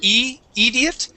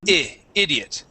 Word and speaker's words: idiot: Okay, let's uh let's practice our short I sound on idiot. So, instead of saying e idiot, it's I idiot. Okay, short idiot.